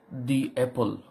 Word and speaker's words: the: তখন আমরা সেটা দা পড়ব না, বাউলের আগে হলে দি উচ্চারিত হয়। যেমন দি অ্যাপল।